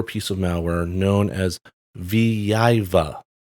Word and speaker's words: Vyveva: of malware known as viva i probably have that mispronounced but it's spelled v y v e v a in an attack against